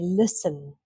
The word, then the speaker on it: listen: So we don't say the T, we say listen, fasten, often.